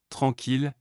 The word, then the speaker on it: tranquille: Tranquille, j'aime les endroits tranquilles pour lire.